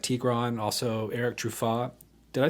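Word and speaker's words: Truffaz: As we've spoken about, you're a sideman for notable artists like Tigran, also Eric Truffat.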